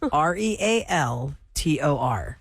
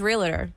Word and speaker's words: Realtor: say it hold on the normal way I would say it is realer that's incorrect yeah real Tor people do that real they're not Realtors not real Tor and